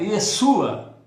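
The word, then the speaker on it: ישוע: A segunda, Yeshua, não é Jesus não, é Yeshua. Yeshua.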